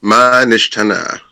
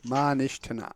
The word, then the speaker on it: MaNishtana: So first of all, MaNishtana, would you please give me the correct pronunciation of your name? MaNishtana. MaNishtana.